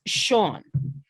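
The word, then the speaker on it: Seagn: of carnival farm and how you pronounce her name is sean it's spelled s-e-a-g-n because her mother thought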